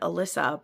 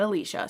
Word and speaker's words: Alicia: Though it definitely threw me because it is spelled the way I've always said Alyssa, but luckily I listened to the audiobook and they said Alicia, so I'm saying Alicia.